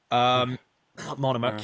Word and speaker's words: Monomakh: She marries Vladimir Monomakh. I can never pronounce that. Monomakh, yeah.